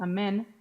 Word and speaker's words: amen: response of the audience shouting are men stressing the second syllable of the word amen he's a customary response